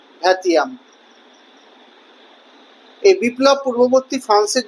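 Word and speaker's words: vingtième: ক্যাপিটেশনকে ফরাসি ভাষার উচ্চারণে বলা হয় ক্যাপিতাসিও এবং ভিংটিয়েমেকে ফরাসি উচ্চারণে বলা হতো ভ্যাতিয়াম।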